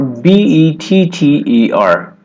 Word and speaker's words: better: B-E-T-T-E-R.